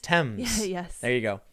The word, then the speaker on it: Thames: Thames is pronounced Thames.